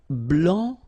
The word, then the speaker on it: blanc: here, okay, so here, masculine, blanc, don't pronounce the final C, and then blanche.